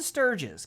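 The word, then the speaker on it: stirge: Clinging to the ceiling are 10 sturges. God damn it. That's what I need. Fucking mosquito bat nightmare monsters. By the way, those are pronounced Sturge.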